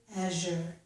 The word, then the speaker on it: azure: In a small number of words, the letter Z followed by U makes a Z sound, as in this word, azure.